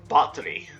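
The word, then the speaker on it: Báthory: bathory but and actually according to this it's actually pronounced battery but any but we'll just keep up with the same with the same pronunciation i've been going on elizabeth bathory bathory and her four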